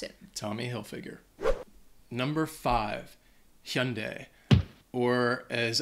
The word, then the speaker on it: Hilfiger: is a name uh I think people may mispronounce the last uh the the last name the first name I think is easy Tommy everyone knows that but Hill figure might be a little bit more confusing so that's how you